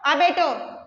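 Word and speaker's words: abattoir: क्या बोलेंगे इसको? अबेटो। रे इसके अंदर साइलेंट होता है, आर, ठीक है।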